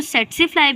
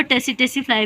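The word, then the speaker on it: tsetse: अब इसको सेट्सीफ्लाई भी कहते हैं, कुछ लोग टी साइलेंट कर देते हैं, सेट्सीफ्लाई भी बोल रहे होते हैं और टेसिटेसीफ्लाई भी बोल रहे होते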